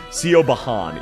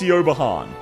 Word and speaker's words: Siobhan: So, this is actually this is actually Siobhan. This is pronounced Siobhan. Uh, so yeah, that is Siobhan. Uh, so some people just can't read.